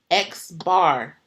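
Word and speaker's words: x̄: mu but it's like mu mu so it's pronounced mu and then the second one here for sample mean X bar so it's X bar so it's like X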